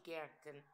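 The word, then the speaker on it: Gärten: La lettera è la lettera giusta, ma non è la pronuncia quella. Ah, Gerten. Bravissima, di Gerten.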